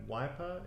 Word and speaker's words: Wyper: wiper photography calm and wiper is spelt with a WY yeah we're puttin go